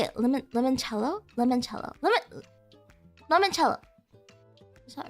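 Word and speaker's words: limoncello: Lemonello. How do you say it? Lemon. Lemonello. Lemonchello.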